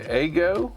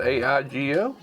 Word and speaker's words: Aigo: said it is the eggo i guess the way you pronounce it a igo shadow max cpu i'm